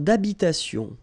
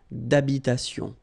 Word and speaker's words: d'habitation: Une tour d'habitation. Remember, H doesn't exist in French, well, in most of the cases. So it does mean that you don't pronounce it. All right, so d'habitation.